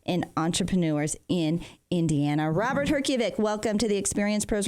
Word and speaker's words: Herjavec: Well, it's wonderful, and I apologize for the mispronunciation of your name. Give it to me one more time. Herjavec.